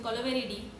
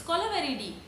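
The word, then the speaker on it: Kolaveri Di: We don't interrupt your flow when you're singing Kolaveridi. It's not Kolaveri, it's Kolaveridi.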